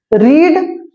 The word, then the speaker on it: read: अब एक विशेष ध्यान दीजिएगा, रीड का सेकेंड और थर्ड फॉर्म READ ही होता है, बट प्रोनाउंसिएशन चेंज होता है ना। फर्स्ट फॉर्म को हम आप रीड पढ़ेंगे, जबकि सेकेंड और थर्ड फॉर्म को रेड पढ़ा जाता है, लेकिन स्पेलिंग सेम होगा, ठीक है।